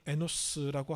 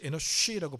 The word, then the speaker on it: 에노쉬: 셋도 아들을 낳고 그의 이름을 에노스라고 하였으며 그때 사람들이 비로소 여호와의 이름을 불렀더라. 자, 에노스. 에노쉬라고 발음합니다.